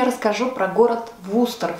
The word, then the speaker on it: Worcester: Надо отметить, что название города Вустер для меня было шокирующим открытием, потому что по-английски он пишется Worcester. Я и мои друзья так и произносили название этого города, пока мы не приехали туда и не прочитали по дороге в Википедии, куда нам сходить, что посмотреть и так далее. На русском языке он звучал Вустер, и мы поняли, что